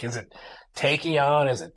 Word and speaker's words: Taekion: It's like, is it Taekion? Is it tachyon? And it's got the TAE is the phonetic spelling of a tachyon particle.